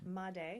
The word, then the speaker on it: Madej: Madej.